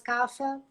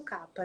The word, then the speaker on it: kapha: Já o dosha kapha, ou kapha, as pessoas falam mais kapha, mas a pronúncia correta seria o kapha, né?